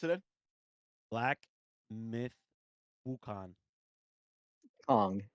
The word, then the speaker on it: Wukong: it in black myth wukan Kong it's NG at the end we got your our